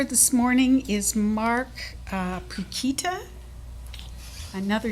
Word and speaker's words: Pukita: the last name is pikita it rhymes with the banana brand chiquita so pakita chiquita my nickname